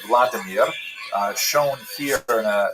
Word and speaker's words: Vladimir: one of its leaders pronounced in Russian Vladimir uh shown here in a statue overlooking the Denipro River that runs through the middle of cave.